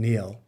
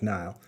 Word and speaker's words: Niall: that i mean now not oh niall i always wanted to call him neil or i thought well i knew it was not but i always wanted to spell it it's actually spelled like nile um yeah i mean